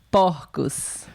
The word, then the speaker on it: porcos: Porcos. Perceberam a diferença, pessoal, de pronúncia? No singular, essas palavras, no singular, um pouquinho mais fechado. Porco. E no plural, porcos. Porcos.